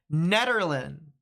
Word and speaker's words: Netherland: It's pronounced Ned like the man's name. Netherland. Netherland. Good stuff. Netherland. People keep saying knee all the time. It's officially Netherland.